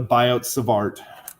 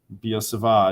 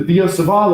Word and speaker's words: Biot-Savart: Obviously, these guys were French, hence it's not the Biot-Savart. Biot-Savart is my best pronunciation. I'm not a French speaker, so take it for what it's worth.